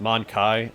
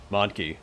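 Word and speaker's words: mon-keigh: I always pronounce it Monkai. I knew it was supposed to be a play on monkey. But it looks like it is pronounced Monkey, so...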